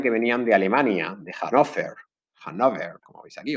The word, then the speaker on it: Hannover: Yo simplemente quiero que sepáis que son de la dinastía de Hannover, o creo que se pronuncia en alemán, o Hannover, que es la dinastía que sigue existiendo hoy en día en Inglaterra.